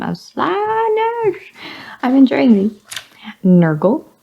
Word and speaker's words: Nergal: slash I'm enjoying me Nergal rhymes with circle c CH the is